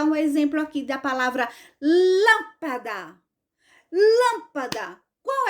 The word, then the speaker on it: lâmpada: eu vou dar um exemplo aqui da palavra lâmpada lâmpada qual é a sílaba mais forte Esse é o da que